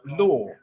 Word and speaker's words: ley: And I'd like to state that the word in Spanish, ley, is pronounced law, just so you know.